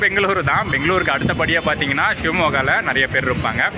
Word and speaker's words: Shivamogga: பேச்சு வழக்கில் சொன்னோம்னா ஷிமோகா அப்படின்னு சொல்லுவாங்க, பட் கரெக்டாக ஸ்பெல் பண்ணி ப்ரொனவுன்ஸ் பண்ணோம்னா ஷிவமோகா அப்படின்னு வரும்.